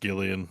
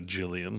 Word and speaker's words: Gillian: name is actually pronounced Gillian sorry I think it's her name is Gillian Jacobs Jacobs yeah different one but you say it with a hard G not a Jillian I didn't know Henry